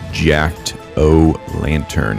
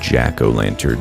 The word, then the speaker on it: Jacked O-Lantern: It's Jacked O-Lantern. I think I said Jack-O-Lantern during the intro.